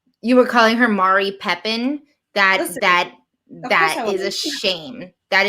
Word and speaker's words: Mari Pepin: She pronounces it like Mati because of her Spanish. So yes, Mari. You could even say Madi, like with a D, Madi, and that would sound better than Mari, to be quite honest.